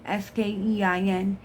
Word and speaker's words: skein: Pull the yarn out of the skein, S-K-E-I-N, and it's pronounced skein.